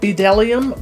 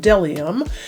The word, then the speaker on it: BDellium: so you would think that it would be pronounced bedellium but it appears that it's pronounced delium but again I want to give you a